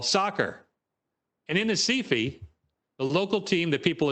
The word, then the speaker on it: Recife: And this was done and done brilliantly in a campaign in Brazil, in the town in the red box, pronounced in Portuguese, Recife.